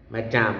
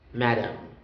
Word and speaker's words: madame: with a french origin damn my damn with the letter e my damn if there's no e uh madam madame mata okay okay so next